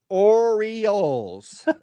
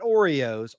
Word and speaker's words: Orioles: Orioles, the Baltimore Orioles, not Oreos, Orioles. It's 3 syllables.